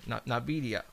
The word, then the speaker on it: NVIDIA: NVIDIA. They are. And it's spelled N as in Nancy, IVIDIA Corporation.